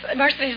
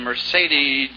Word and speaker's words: Mercedes: name the girl named Mercedes Mercedes mccambridge has the same name but she pronounces it differently let's see here's his Mercedes Mercedes like in the Ben's car huh that's right you